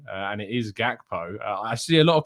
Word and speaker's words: Gakpo: pretty good's authority that you do actually pronounce the g and it is gakpo i see a lot of people pronouncing it just hakpo but i'm told that